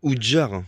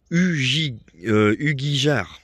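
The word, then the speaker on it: Ugíjar: petite précision genre modifie c'est pas jar je me suis trompé c'est ugijar en fait ça s'écrit u g I J a r donc c'est la prononciation c'est un peu difficile guij AR je sais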